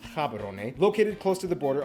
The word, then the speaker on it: Gaborone: If you speak Setswana, it's pronounced Gaborone.